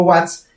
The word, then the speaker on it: watts: W si recordemos que es vatios o watts también se puede pronunciar como watts y quiere decir esto